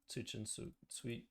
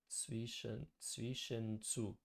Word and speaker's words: Zwischenzug: Zwischenzug. Zwischenzug. Trying to pronounce the German acceptably. Zwischenzug.